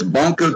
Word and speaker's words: Bonko: It's Bonko TV, like Roku.